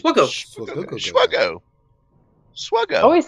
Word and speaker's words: SWGOH: Swuggo. Swuggo. I always say Swiggle. Swuggo. Swiggle. Oh, goal. Swuggo. All right. The H is silent. It's SWGOH. The H is silent like in Saber Shark.